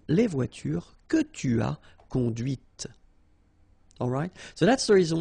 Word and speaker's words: conduite: Okay, so here you can listen to this T, T, okay, conduite, right?